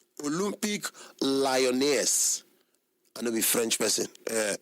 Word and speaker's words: Olympique Lyonnais: Olympique Lyonnais. I know be French person, but it's pronounced as Olympique Lyon, but the spelling are Olympique Lyonnais, with a seating capacity of 59,186 seaters.